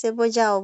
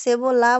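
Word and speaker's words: cebolla: যেটাই বলবেন সেটাই কারেক্ট এটা অন্তস্থ অর মতন উচ্চারণ হবে আবার অন্তস্থ জ এর মতন হবে দুইটাই কারেক্ট এলেও হইবো যা হইবো দুইটাই এলে না এলে না সেবও বলতে পারেন আবার সেবই যাও বলতে পারেন কিন্তু সেবলা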